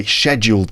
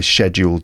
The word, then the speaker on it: scheduled: them no I I scheduled them um that's how that word is pronounced in my version of English uh British English right